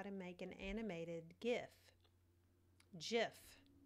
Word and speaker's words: GIF: to show you how to make an animated gif jiff it's pronounced jiff so anyway I'm starting in the light room